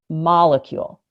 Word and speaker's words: molecule: And think about this word molecule. So the word molecule has the emphasis on that first syllable, molecule.